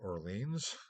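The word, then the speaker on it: Orléans: to the University of Oregon or Orleans as you see up there again keeping the French pronunciation or you know to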